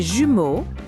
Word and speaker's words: jumeaux: To say twins in French, we say les jumeaux if they are males and les jumelles if they are females.